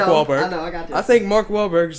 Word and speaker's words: Wahlberg: off what Mark Mark you're saying it wrong it's Mark wallberg I think Mark wallberg